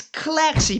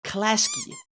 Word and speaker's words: Klasky: It's Klaxy, people, not Klasky.